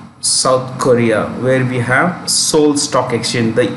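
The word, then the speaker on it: Seoul: let's go to south korea where we have soul stock exchange the e is silent it is sold okay so it's cos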